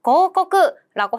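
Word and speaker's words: 広告: 바로 고코크라고 해서 광, 이것도 봐봐요. 횡자랑 비슷하게 읽기 어렵다 싶으면 뒤에 우자가 붙어 있답니다.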